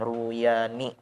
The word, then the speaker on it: Ruyani: Cara bacanya huruf ra-nya didhammahkan, Ruyani, Imam Ruyani.